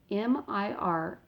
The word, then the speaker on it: Mircea: His first name is Mircea. That's how the first name is spelled.